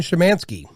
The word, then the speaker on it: Szymanski: and joining me for this episode is shimanski how you doing sir fabulous you even